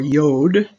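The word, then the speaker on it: יוד: By the way, the letter can either be pronounced Yud or Yod. I was taught to say Yud, so that's the way I say it.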